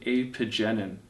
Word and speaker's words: apigenin: flavonoid and i may mispronounce this but i pronounce it apogenin and apogenin is also found in chamomile and